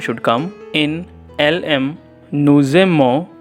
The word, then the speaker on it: nous aimons: Here is also it is written as nujemo, but kindly make it a j bit z. It will sound as nuzemo. You will speak as nuzemo.